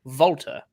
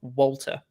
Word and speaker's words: Walter: And as a native German speaker, he pronounced it correctly if it be the case. Like Volta, rather than Walter.